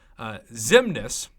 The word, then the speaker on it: Xemnes: fantastic along with Colossus who will be the featured champion for the sake of this video huge shout out to Zim Ness xcm NES pronounced Ximena so hit me up